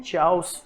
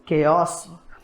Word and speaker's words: chaos: हम में से बहुत से जो गलत प्रोनाउंस करते हैं और इसको पढ़ जाते हैं चाउस।